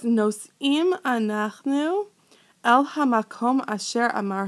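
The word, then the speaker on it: נושאים: Okay, did you say nosim? Okay, nosim. It rhymes with ovrim. It rhymes with shomrim.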